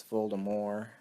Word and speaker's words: Voldemort: whole time apparently it's fooled amor apparently I guess you don't pronounce the T but I say uh